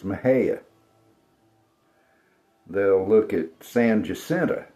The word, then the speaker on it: Mexia: We have a town called Maha. And Yankees all the time think it's Mexia, but it's Maha.